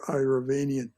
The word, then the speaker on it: Iravanian: but he says that this doctor irovanian as they pronounce it there dr iravanian is their mad scientist uh